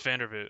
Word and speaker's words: Vandervoort: That's actually pronounced Vandervoot, correct? Oh, it's Vandervoort.